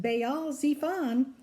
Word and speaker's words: Baal Zephon: You'll notice that Baal Zephon had 2 accent marks on it, one on the Bay part and the second on the Z part.